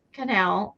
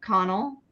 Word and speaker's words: Connell: Um, I only stayed in line for one person and that was Ruth Canal. Connell, I think it's Connell. Is that how you pronounce it? C O N E L L.